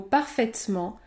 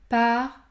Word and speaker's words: parfaitement: faire faire parfaitement parfaitement ici je ne prononce pas la voyelle e dans le mot parfaitement les lettres ai se situent devant la consonne prononcée parfaitement parfaitement chaise chaise laine